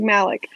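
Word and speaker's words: Malach: we love him but they're spelled very differently it's pronounced like Malick yeah which is sad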